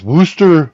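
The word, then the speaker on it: Worcester: exard look at that oh wow out of woster Massachusetts I I said it right oh my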